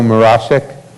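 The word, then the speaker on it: Mroszczyk: Finally, our student, and I'm going to try to pronounce this correctly, Joe Morosik.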